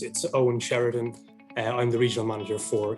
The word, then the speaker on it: Eoin Sheridan: Yes, as Prakesh correctly pronounced my name, it's Eoin Sheridan.